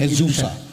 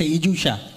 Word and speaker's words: IZUSA: एजूसा। IZUSA इजूशा। आई से शुरुआत होती है।